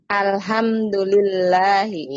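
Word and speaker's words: الحمد لله: Alhamdulillahi. Iya sahih. Alhamdulillahi. Nah perhatikan umahat semua ya. Kalau lafaz Allah nggak ada alifnya, berarti dibacanya lillah. Alhamdulillahi.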